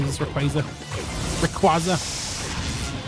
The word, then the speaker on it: Rayquaza: Also watch Rayquaza.